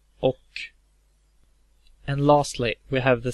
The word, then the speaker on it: och: The Swedish word och, meaning and, has a H, even though it's pronounced och.